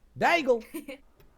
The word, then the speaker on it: Daigle: I think that's what the lore is, but that's a Hannah Daigle question. Daigle. I love that her Oh man. last name rhymes with bagel.